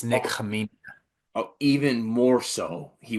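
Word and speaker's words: Khamenia: It's uh I don't want to butcher his last name, but it's Nicholas Kina. It's actually I've learned this week the K is silent. It's Nick Kia.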